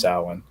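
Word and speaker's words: Samhain: it's been americanized into champaign but the actual pronunciation is salwin and it's a celtic festival to move from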